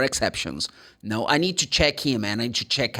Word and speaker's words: check-in: Because the CH in this case, for this word, is ch, check, check-in, check-out.